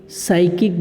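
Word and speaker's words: psychic: हैं सनकी को, एक साइकिक बोल सकते हैं। पी यहाँ पे साइलेंट है, इसका प्रोनाउंसिएशन नहीं है, यहाँ से इसको बोला है साइकिक।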